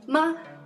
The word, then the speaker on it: 吗: Ma is a neutral tone.